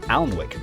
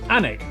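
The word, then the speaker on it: Alnwick: stop in quernmore quma before finishing up in alwick anik which is near Newcastle or as the people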